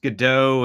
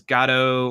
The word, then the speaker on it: Godot: argument yeah I think the English is pronounced Godot and French is gato or something like that so yes